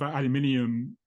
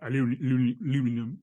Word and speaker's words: aluminium: And I've actually got a bit of aluminium or aluminum. How do you say in America? You say it differently, don't you? Aluminum. Yeah, that's the one. Yeah, yeah, yeah. Slightly different pronunciations, but it's yeah.